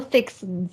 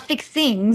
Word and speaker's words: fixins: It's an all-you-can-eat tofu bar with all the fixins. Yeah. Fixins, not fixings.